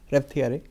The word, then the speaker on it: Reuteri: Men den heter Lactobacillus reuteri. Ja, kanske? Ja, vi säger ju Reuteri. Reuteri, det uttalas på hur många sätt som helst. Det finns...